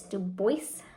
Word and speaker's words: Dubois: songs and I think I've been pronouncing this wrong so thank you to uh Pam of just just keep stitching it's Dubois um so pronounce his name